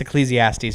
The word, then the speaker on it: Ecclesiastes: l t Ecclesiastes oh Ecclesiastes that's it it's Ecclesiastes for sure that one yeah also side note